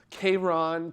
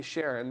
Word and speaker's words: Charon: know there's a huge debate over how to pronounce the name of Pluto's moon, and I know a lot of people, I've heard Charon, Karen, and a whole bunch of other stuff, but I say Sharon because the guy who discovered it originally wanted